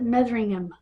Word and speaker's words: Metheringham: Meing Motheringham Lincolnshshire they would probably pronounce it Metheringham like Birmingham. They don't say the H.